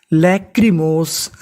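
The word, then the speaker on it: lachrymose: एच आर वाई सी एच को पढ़ेंगे क आर वाई को पढ़ेंगे री तो इतनी मीनिंग क्या बन लेक्री एम ओ मो एस ई इसे पढ़ेंगे सा क्योंकि आखिरी में इ है इ का उच्चारण नहीं करना तो पूरी मीनिंग लेकिमोस लेकमोस लेकिमोस का मतलब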